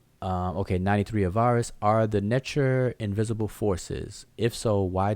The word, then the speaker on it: Netcher: And to give you an example, like the word that we pronounce Netcher, which is the word for deity or God, in Coptic they pronounce it Nute.